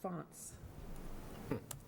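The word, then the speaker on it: fonds: F O N Ds. And it says pronounced fonts.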